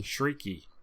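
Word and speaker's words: Chriqui: creek creating shrieking okay it's pronounced freaky shrieky oh okay emanuel shrieky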